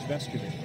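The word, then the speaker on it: Vescovi: I wanted everybody to know the real way to pronounce it is Vescovy.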